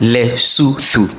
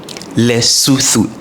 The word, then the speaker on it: Lesotho: So first and foremost, the word is pronounced leu. Leu and not leu.